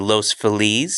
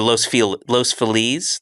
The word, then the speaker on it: Los Feliz: The correct pronunciation would be Los Feliz. Yeah. Or Los Feliz, like the happies. Like Feliz Navidad, yeah. But everybody calls it Los Feliz.